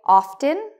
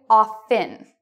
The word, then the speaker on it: often: Some people say often, that's good. Other people say often with a silent T. Both ways are acceptable. Okay, both ways are now the standard. You can say either way.